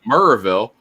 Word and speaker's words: Maryville: on the other hand, we also have two other cities in Tennessee that are pronounced Woodville, which Woodville. Joe Dog just mentioned, and also Murrayville. Murrayville. They're not spelled that way at all. They're spelled Whitwell and Maryville.